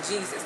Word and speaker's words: Jesus: So if you put the I in front of another vowel, it will be pronounced as a J. So in this case, because the I was in front of an E, it had to be pronounced as a J. So that's how we get the J sound, the J sound. We got from Yeh in Yeshua to the J in Jesus, because the Greek people do